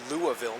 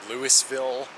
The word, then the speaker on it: Louisville: city in kentucky only behind louisville yes it's pronounced louisville not lewisville not louisville louisville so lexington is just behind